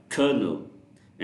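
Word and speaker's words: colonel: I mean why does C ओ एल ओ एन इ L sound like कर्नल एंड why does the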